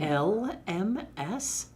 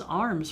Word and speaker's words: alms: I thought it was arms for the poor. I didn't No, know it was it's alms. AL, not AR.